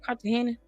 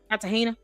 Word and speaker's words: Cartagena: I'm just say fat joke because I I someone showed me told me how to pronounce his like Kartahena. Kartahena.